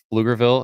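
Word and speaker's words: Pflugerville: just north of Austin little town called lugerville it's actually spelled with a PF in front so it's like a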